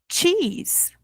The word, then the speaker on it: cheese: B, cheese. You have it for lunch or for dinner. It's hot and yellow. Pasta. Ok. Aqui a pronúncia de queijo, a gente puxa bem o i.